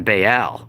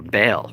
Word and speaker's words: Baal: and asherah his brother is bael or bale or ball however you want to pronounce it and their sister